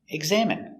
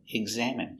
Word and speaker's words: examine: next word is examine examine using the sound in for ine examine it's a verb the